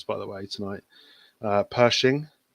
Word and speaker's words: Pershing: terrible at names by the way tonight uh pershing not badly yeah that was good pronunciation and it's got a three inch gun